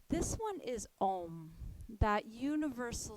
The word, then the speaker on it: Om: This one is Om, that universal sound that carries itself through the universe. And it is pronounced A-U-M, Om.